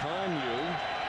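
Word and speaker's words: Kanuck: K-A-N-U-C-K, pronounced Conyu. Lou Torben, the sports information board, forgets. Easy to remember, it's just UConn backwards.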